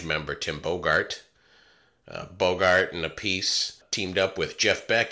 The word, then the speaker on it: Appice: legendary rock drummer carmine apiece my apologies to carmine i referred to his last name as apace i swear i've heard